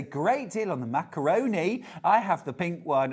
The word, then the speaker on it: macaron: Clover oce is that you say macaron macaron it's not macaroon no wrong all we were all saying it wrong for many years calling it a macaroon oh yeah macaron macaron